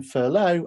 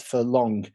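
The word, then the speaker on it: furlough: to look back on as I was pronouncing furow as furong. So if you ever watch that first video back again, you get to see me making a fool of myself, saying furong at every moment that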